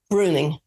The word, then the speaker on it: Breuning: how do you say your your last name Bruning Bruning bruny yeah it's my ex-husband's name